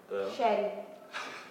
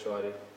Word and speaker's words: Shari: Sherry. No, that's Shari.